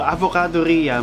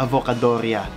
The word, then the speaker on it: Avocadoria: So, AVOCADORIA, may mga nagbibigkas nito na AVOCADORIA. Yeah, pero hindi ganun ang pagbigkas ko. AVOCADORIA, I treat it like it's a pizzeria or trattoria.